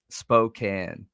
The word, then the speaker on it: Spokane: Kimberly, that's probably what we get teased about or made fun of the most is how bad I am at pronunciations. Spokane. Got it. Spokane.